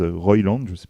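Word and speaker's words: Roiland: c'est beau et donc de justin roy landes rolande ça se prononce qui en fait à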